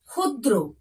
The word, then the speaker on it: ক্ষুদ্র: কয়েকটি উদাহরণ দেখে নাও ক্ষুদ্র দেখছো একদম কিন্তু উচ্চারণ খ এর মত হচ্ছে বোঝা গেল দেখো ক্ষুধা